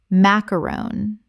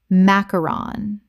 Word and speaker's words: macaron: Common mispronunciation: macaron. Correct pronunciation: macaron. This is not the same as a macaroon, which is a coconut biscuit. A macaron is a French sandwich biscuit.